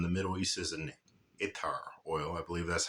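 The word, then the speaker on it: attar: Middle East as an itar oil I believe that's how they pronounce itar atar it's spelled like atar but I believe it's pronounced itar anyway the this is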